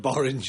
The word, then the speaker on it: Borange: Because it rhymes with orange. He didn't even get to say the word Borange.